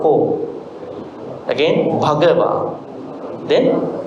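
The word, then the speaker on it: Bhagavā: So the only thing was that the H part, you have to make a what do you call, an emphasis, not Bhagava, as I said earlier, Ekang Samayang Bhagava.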